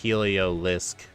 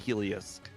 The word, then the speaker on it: Heliolisk: If you look after the Helio, there's an L. So, it's Helisk. Street name. A helioisk. A helioisk. For those people that like to skip a syllable.